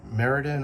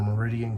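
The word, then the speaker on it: Meriden: 200 years ago in Meridan or Meridian Connecticut I've been told it could be pronounced either way even though I'm close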